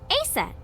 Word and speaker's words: Aset: is named Isis but in ancient Egyptian it's pronounced closer to ISA or aset H how do I